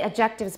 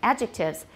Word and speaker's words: adjectives: of words these are adjectives and don't say objectives by the way it sounds like something totally different adjectives and where's the stress